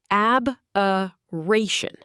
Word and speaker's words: aberration: Aberration, pronounced ab-uh-ration.